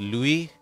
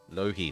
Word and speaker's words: Lohi: Just Louis? Lohi, sorry. I always want to say it like it is a French name.